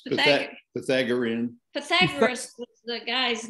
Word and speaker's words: Pythagorean: How do you pronounce Pythagorean theorem? That's pretty You're pretty close. Pythagorean.